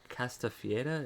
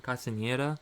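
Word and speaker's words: Castañeda: John Castafieda. Is that how you say his name? Castaneda.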